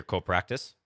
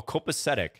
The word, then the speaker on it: copacetic: that's nice to hear co-practice or cool practice copy copy to this is that a word i gotta look that up that is a word oh copacetic wow i butchered that pronunciation of this english word copacetic it means in excellent